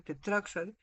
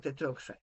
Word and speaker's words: tetroxide: Si tuvieras 4, por ejemplo, tetraoxide, si lo dices un poco rápido, tetraoxide, suena como tetroxide.